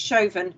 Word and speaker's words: Siobhan: yeah sorry my uh it's chauvin but you're right because i'm it's spelt siobhan so it's just me